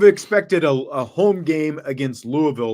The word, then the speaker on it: Louisville: Louisville. Depending on how you say it. Louisville. You got to talk like you've got some marbles in your mouth.